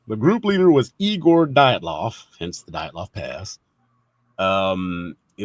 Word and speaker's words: Dyatlov: So our next topic is the mystery of the Dyatlov Pass incident.